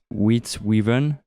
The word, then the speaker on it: Witte Wieven: In original language, it's Witte Wieven. Yes, that's a good pronunciation.